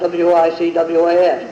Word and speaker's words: Wicwas: Well, the Grange and the papers had gone through, so it's always been Wicwas, W-I-C-W-A-S.